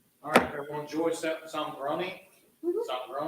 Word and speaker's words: Zongrone: Zongrone That's the correct way to say it. Zongrone. Americans say it Zongrone, Italians say Zongrone.